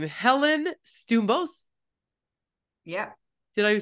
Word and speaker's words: Stoumbos: don't want to butcher your last name Helen stos yeah did I say it right correct yeah